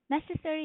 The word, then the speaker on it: necessary: So in here the stress is on the first syllable which is necessary.